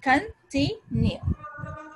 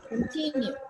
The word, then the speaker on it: continue: There are also three syllables in continue. Stress किस पे है? Continue. T है, T I है. Double E यहाँ पे नहीं है. But we have to say continue.